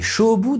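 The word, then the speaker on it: 菖蒲: Au Japon, le jonc odorant, appelé shobu dans sa prononciation chinoise, n'a pas la connotation sexuelle que l'on pourrait prêter à sa traduction française.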